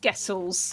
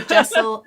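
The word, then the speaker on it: Gesell: Yeah, so now we've had a massive influx of Gessels. Okay, brilliant. Okay. Gessel, yeah. Gessel, Jessel. We don't mind how you say it.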